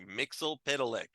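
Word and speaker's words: Mxyzptlk: Mixel Pitalik.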